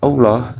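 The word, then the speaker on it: الله: Allah dibaca tebal selanjutnya tarqi terjadi apabila lafaz Allah didahului harakat kasrah contohnya pada surat ala'raf ayat 33 di dalam ayat tersebut berbunyi lafaz Billahi pada lamnya lafaz Allah didahului harakat kasrah cara membacanya lafaz Allah dibaca tipis masuk pembahasan mengenai hukum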